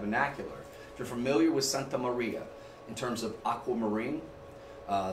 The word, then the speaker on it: Santa Maria: m s Maria Santa you say it like that the Santa Maria roll your Arc I can't do it that well but this is the